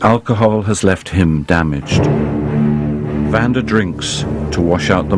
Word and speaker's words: Vanda: Vanda drinks to wash out the monsters that mess her mind. Fuck. And everybody gets my name wrong. Vanda they get wrong. I either get Amanda, Sandra, Brenda, Wanda, Veranda.